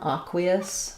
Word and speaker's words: aqueous: We have first syllable stress. Usually letter A says ah in American English. In this word, I think probably because it's coming from the Latin, it's going to say actually the ah sound.